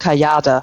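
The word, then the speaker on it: Kajade: my actually my business name because I I pronounce it in German is called kayada so k a j a d e so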